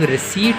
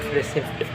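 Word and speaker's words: रसीद: Bill और invoice का ही एक पार्ट होता है रिसिप्ट, जिसको कई लोग रिसीट भी कहते हैं। करेक्ट प्रोनाउंसिएशन है इसका रिसीट, नॉट रिसिप्ट।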